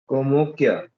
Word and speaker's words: Kamakhya: Kamakya, Kamakshi. Just type Assam. Komokya. Yeah. They pronounce the Bengali.